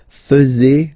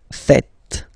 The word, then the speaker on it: faites: many French people tend to make the mistake and tend to say vous faisiez, okay? But then no. It's vous faites. Vous faites. Okay? So remember, final S here is not pronounced, and then this is not pronounced either.